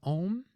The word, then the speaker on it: Oṃ: to pay attention to om and whom om is a sacred syllable you're probably familiar with that it's in Buddhist context it's typically printed as an O and that is how it's pronounced uh I think in